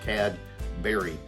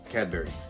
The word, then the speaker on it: Cadbury: how we pronounce it, Cadbury, as in 2 words, Cadbury. But even though it's not 2 words, that's how we pronounce it, Cadbury.